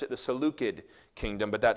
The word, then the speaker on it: Seleucid: This kingdom was called the Seleucid kingdom. You actually would have pronounced it the Seleucid kingdom, but that sounds weird because everybody else says it the other way now.